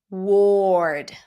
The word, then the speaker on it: ward: Ward. Ward. So, we do hear that Oish quality of the sound.